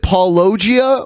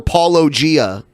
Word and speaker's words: Paulogia: Is it Paulogia or Paulogia? I go with Paulogia because that's closer to the Greek pronunciation, but it's a whole long, convoluted story.